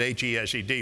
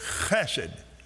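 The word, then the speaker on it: חֶסֶד: Now, if you see it written, you can just pronounce it H-E-S-E-D, but if you see it written, it has a C in front of it, and it's hesed. Am I right, Professor? It's chesed.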